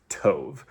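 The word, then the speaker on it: טוב: Um, so, uh, B is actually just like a really intense V in Hebrew, sort of. Um, and so it's kind of like in the middle of that B and V sound, but the Hebrew word is tove.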